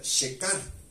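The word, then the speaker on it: שֵׁכָר: hebreo de la del numeral 7941 que se pronuncia shekar y la palabra shekar significa intoxicante intensamente alcohólico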